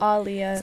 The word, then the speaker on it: Aaliyah: bit tough independent but alia was on I also realized she pronounces her name as alia not alia because there's two A's in it so I feel I